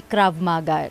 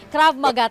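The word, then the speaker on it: Krav Maga: natin when we study crab maga Am I pronouncing it right Is it crab maga o crav maga mabis Sabi ko na e mabilis Oo crav maga tama Opo sir Ano po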